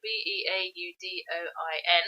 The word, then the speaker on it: Beaudoin: however you pronounce it it's spelt b-e-a-u-d-o-i-n so in french that would be beaudoin but i'm sure it's got an americanized pronunciation i can't remember much